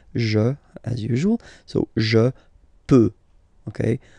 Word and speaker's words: peux: Final X not pronounced here, okay? So you've got X, but you don't pronounce it. So basically, you get the sound peux, peux, je peux. Okay, so I can, je peux, okay? Then, tu, tu peux, same pronunciation and same spelling or writing, okay? P-E-U-X, okay, don't pronounce the final X.